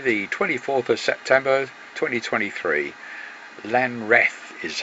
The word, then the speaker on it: Lanreath: Lanreath is how it's pronounced, and that's us going across in the